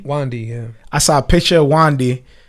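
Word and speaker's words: Wande: Before we started the show, I saw a picture from how do you pronounce her name? Wandy. Wandy, yeah.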